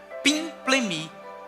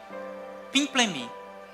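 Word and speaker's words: πίμπλημι: A primeira palavra, olha que linda essa palavra, certamente não é essa pronúncia, né? Mas é pimplemi. Repete comigo, pimplemi.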